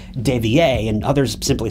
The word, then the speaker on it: De Villers: Now, some people insist on pronouncing Greg's name as De Villers, and others simply say it as De Villers, but we'll just call him Greg to keep it simple.